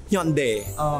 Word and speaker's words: Hyundai: Hyundai. Thais pronounce it as hoon-dai.